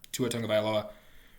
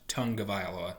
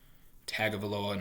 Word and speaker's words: Tua Tagovailoa: They took Jalen Waddle, giving giving Tua Tagovailoa, which, yes, it's pronounced Tagovailoa, not Tagovailoa, not however the hell else you've heard it mispronounced.